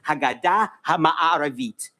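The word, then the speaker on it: הגדה המערבית: In Hebrew, West Bank is Haggadah HaMa'aravit. That is how it is pronounced in Hebrew.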